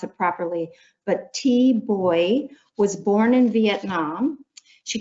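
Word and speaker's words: Thi Bui: to pronounce her name, is T, and the last name, it's like Life Boy, and I'll probably go back and forth. I'll do the best I can to pronounce it properly. But T Boy was born in Vietnam.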